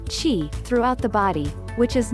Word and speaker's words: qi: the circulation of energy she pronounced chi throughout the body which